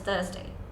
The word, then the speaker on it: Thursday: wenesday it's Wednesday Wednesday it's Thursday you don't have to pronounce the T in the end it's just Thursday it's simple not as